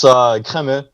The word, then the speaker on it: Camus: So it's Camus, which is very French name, I guess you could say.